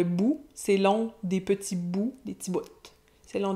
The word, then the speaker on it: bouts: La vie c'est court, mais c'est long des petits bouts. Et là, on voit qu'il prononce le T final de bout, c'est long des petits bouts, des petits bouts. C'est long des petits bouts.